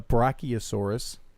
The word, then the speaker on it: Brachiosaurus: uh but yes that that other head the Brachiosaurus did I pronounce that right you did um we do